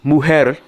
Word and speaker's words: mujer: Woman in Spanish means mujer, and that's M-U-J-E-R. In Spanish, J is pronounced like an H.